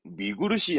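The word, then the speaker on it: 見苦しい: 그럼 발음은 미구르시 합니다.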